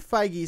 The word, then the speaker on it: Feige: is a big one actually number one it's pronounced his name kevin feige speaks on spider-man in the mcu and civil